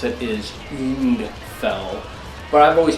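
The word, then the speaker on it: Ungfell: of since day one and that would be unfell or the correct way to pronounce it is end fell but i've always pronounced it until because i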